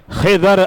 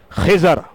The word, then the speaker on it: خضر: خضر علیہ السلام، حضرت خضر۔ اب یہاں میں آپ کو تھوڑا تلفظ واضح کر دوں، بعض لوگ اسے خضر پڑھتے ہیں، بعض خضر پڑھتے ہیں، اچھا بعض خضیر پڑھتے ہیں. یہ تینوں طریقے درست ہیں، آپ کی مرضی